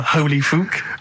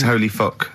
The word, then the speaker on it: Holy Fuck: Please, can we have more Holy Fook? You're not pronouncing it right, Steve. I know. I was just a bit edgy there. It's Holy Fuck, the little Chinese fella.